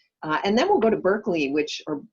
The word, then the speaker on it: Berkeley: then we'll go to berkeley which or barkley as it's pronounced by folks who live there um which is indeed